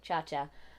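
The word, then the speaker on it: Chacha: Her name is spelt that way too, Cha Cha. It's like Chi Chi, except it doesn't mean boobs.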